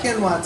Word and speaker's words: quinoa: Another thing I've done is if I make it a burrito, I'll add quinoa to it. Did I say it right? Quinoa.